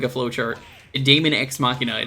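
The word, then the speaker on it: Deus ex machina: like a flow chart damon ex machina it's not damon cross machina or damon machina you should unplug fighting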